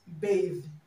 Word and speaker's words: bath: Now, other words you should take note of are bath and bathe. Bath and bathe, okay? Now, this word is pronounced bath, and this is pronounced bathe, bathe, okay?